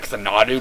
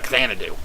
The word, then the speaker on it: Xanadu: Yes, I realized I was pronouncing it wrong when I was Let's Playing the game. I was pronouncing it Xanadu, but I was playing the game completely blind. It was recommended by somebody, so I didn't know how to pronounce it, but now that I know how to pronounce it, it's Xanadu.